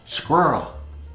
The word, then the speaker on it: squirrel: You could even say it with one syllable. Squirrel.